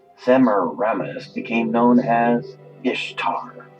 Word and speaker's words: Ishtar: reminisce became known as Ishtar which is pronounced east star and her moon a